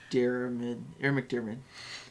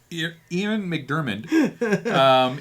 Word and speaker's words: Ian McDiarmid: How'd you pronounce his name? Ian McDiarmid. Ian McDiarmid.